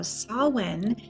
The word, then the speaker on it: Samhain: And Samhain is such an interesting word because it doesn't sound anything like it looks.